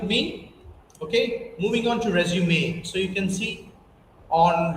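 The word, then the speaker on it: résumé: Okay, that is called accent in French, and that's why the sound differs as A. If the line doesn't come on E, then it is resume.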